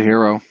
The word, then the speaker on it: gyro: Gyro? How do you guys do it? Are you guys all hero argument? Hero. It's a hero.